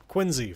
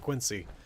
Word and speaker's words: Quincy: Quinzy, for example, instead of Quincy.